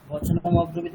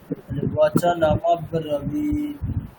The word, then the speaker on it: वचनमब्रवीत्: আচ্ছা আপনারা কি করছেন, সমস্যাটা হচ্ছে বচনমটা একবার উচ্চারণ করে দিচ্ছেন, তারপরে অব্রবীত আলাদা করে দিচ্ছেন। ওখানে শোনাবে কিরকম মানে দেখুন ওই বচনমের ম আর অব্রবীতের অকার দুটোকে একসাথে করে দেওয়া হয়েছে। তাহলে আপনারা কিরকম উচ্চারণ করবেন, বচনম এরকম চলবে, বচনমব্রবীত।